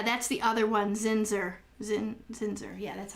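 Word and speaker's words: Zinsser: Zinzer.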